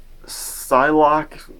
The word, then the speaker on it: Psylocke: Magneto, and yeah, he also ends up recruiting Psylocke, is how it's said, with like she has